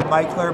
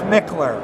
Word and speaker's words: Mickler: Down south they say Mickler, but it's Mickler.